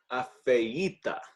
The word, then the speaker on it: afeita: Afeita. Afeita. This is an awkward word to pronounce. It is an awkward word. But break it down by the vowels. A, E, I, A. Say afeita. Afeita.